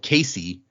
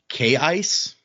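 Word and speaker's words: Kaise: in this book, Keen's daughter, who we called Casey, uh it's written K A I C E. Apparently the pronunciation is actually K Ice, which is weird and I refuse to say that.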